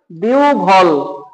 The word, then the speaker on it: বিহ্বল: বিহ্বল, বিহ্বল, বিহ্বল।